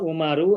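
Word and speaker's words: عمر: bahkan sebelumnya ada nama umaru ada nama Amru ini penulisannya adalah Ain mim dan ro ada satu lagi Aim mimro dan wawu nah ini penulisannya berbeda pengucapan juga berbeda kalau Umar Bin Khattab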